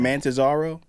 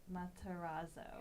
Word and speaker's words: Matarazzo: Can you Google how to pronounce it? I just feel bad. I don't want to disrespect. Is it Mantazaro? Yeah. Gayton is the first name. Matarazzo.